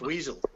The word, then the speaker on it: Wessel: I thought it was pronounced Weasel. Weasel, yeah. Well, it is pronounced Weasel, but I'm trying to be nice.